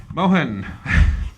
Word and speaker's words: Mohan: Mohan. Known the guy how many years and still get that name wrong.